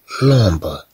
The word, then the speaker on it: l'ombre: لومبر. هاد أم تنطق كما لو أنها أن.